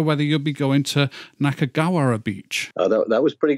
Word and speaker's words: Nakagawara: But I don't know whether you'll be going to Nakagawara Beach. Oh, that was pretty good pronunciation. Was it? Nakagawara Beach.